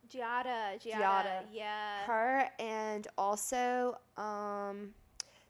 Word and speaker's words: Giada: ever say her name right G Italian oh Gianna Giada Giada yeah her and also um the Barefoot Contessa